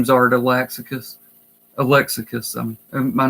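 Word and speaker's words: Art Alexakis: I used to always call it lean art Alex ACA's and it wasn't until just a few years ago that I heard him pronounce his name because I've heard it pronounced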